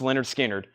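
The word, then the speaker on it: Lynyrd Skynyrd: that is Leonard skinnard $ 4999 Leonard skinnard pronounced Leonard skinnard $49.99 that's the audio file that is the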